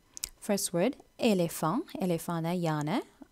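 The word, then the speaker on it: éléphant: First word எலேஃபாங், எலேஃபான யானை. அந்த கடைசியில் வர டீயை நீங்கள் இக்னோர் பண்ணி வந்து எலேஃபான் தான் சொல்லணும்.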